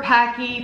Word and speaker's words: Paqui: artificial ingredients it says bulb on nature where Pocky pronounced packaged and we do bold the natural way